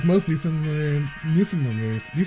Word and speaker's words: Newfoundland: Do you say New Finland like New Finland or do you say New Foundland? Do you say the found? Do you pronounce the found? Yep. New Finland is what it sounds like.